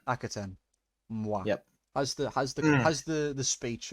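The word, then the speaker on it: Akhaten: Rings of Akaten. Akaten.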